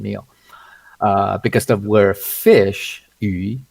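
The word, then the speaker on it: 餘: Okay, it's pronounced yu. Sounds, it's similar sound to fish.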